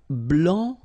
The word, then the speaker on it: blanc: Okay, so here masculine, blanc, don't pronounce the final C, and then blanche.